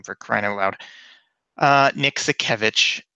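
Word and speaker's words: Sakiewicz: out the cup and he announced Commissioner Nick sack a witch and yeah it's a tough name to pronounce but you're the guy who works for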